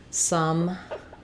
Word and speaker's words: some: some and sum so these two are the same pronunciation both vowel schwa just like sun and sun so that schwa vowel can be spelled with an o or with a u so some I need